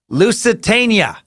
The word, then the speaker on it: Lusitania: Thornton who writes in all caps jesus-tap-dancing-christ it's pronounced Lusitania Dan I'm probably still saying it wrong loose